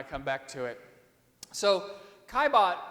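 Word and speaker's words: Caillebotte: He looks like Calibot, right? But that's not how it goes. It's Kaibot. That's how you say it.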